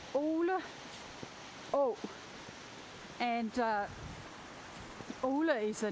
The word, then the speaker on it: Øle Å: But it's actually interesting because the stream, which is called Øle Å, or Øle Å, sorry, I pronounced it the wrong way around. I always get my Danish vowels mixed up. So it's Øle Å, and Øle is a